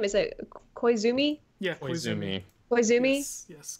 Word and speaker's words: Koizumi: do you say his last name is a Koizumi yeah me why zoomies yes good job zooming